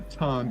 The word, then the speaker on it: TON: It's considered the fastest blockchain worldwide, and it's actually pronounced Ton, by the way, but you can pronounce it the way that works for you, right?